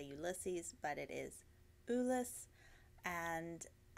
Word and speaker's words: Ulysse: Ulysse is the correct pronunciation. As you are well aware, we are in Texas and tend to butcher things, so we've all been calling it Ulysses leading up to its official launch.